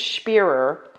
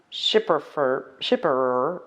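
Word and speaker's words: Schpirrer: So I think it's Spearer, not Shipperer or Skipper, but Spearer. So she kind of said it was the SCH is a sh sound, like a librarian telling you to shush, and it kind of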